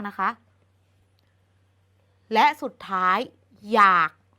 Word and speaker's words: อยาก: คะ และ สุด ท้าย อยาก มัน เขียน ด้วย ออ ก็ จริง แต่ เรา อ่าน ออก เสียง เหมือน มี ห นำ มัน จึง จัด เป็น